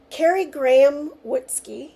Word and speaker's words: Kari Graham Wutzke: Kari Graham Wutzke, is that how you say it?